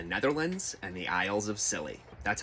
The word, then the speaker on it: Scilly: That's pretty fitting, actually, because whimper is the entire tone of the war between the Netherlands and the Isles of Scilly. That's how you pronounce it.